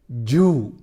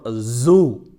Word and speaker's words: zoo: Another common mispronunciation is Jew for zoo.